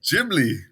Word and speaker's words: Ghibli: What's actually the right way to say it? Ghibli. It is Ghibli.